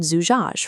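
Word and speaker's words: زجاج: Let's decode Zujaaj from right to left. First, Za with a Damma vowel, Zu, is stubborn, forcing a break. Next, Jim with a Fatha, Ja, connects left. Alif accepts this, but stubbornly refuses to connect left, leaving the final Jim isolated.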